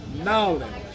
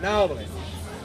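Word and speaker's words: New Orleans: Ralph Brennan is from Nolens. That's how they say it down there. They say Nolens.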